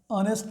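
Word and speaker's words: honest: अब देखें हाउस का एच पढ़ा जा रहा है, ऑनेस्ट का एच नहीं पढ़ा जा रहा।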